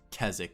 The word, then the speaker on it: Keswick: event called keswick or no this place called keswick but it's spelled like keswick but i don't understand how it's pronounced keswick like it doesn't make any sense to me